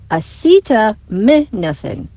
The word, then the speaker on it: acetaminophen: Other words and names on this year's list include acetaminophen, the active ingredient in Tylenol, correctly pronounced acetaminophen.